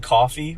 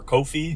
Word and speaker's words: Ko-fi: um catch us on coffee or Kofi yeah what however you want to pronounce it uh Link in the